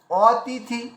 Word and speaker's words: অতিথি: তো এবার দেখুন অতিথি, পরিষ্কার উচ্চারণ বেরিয়ে আসলো।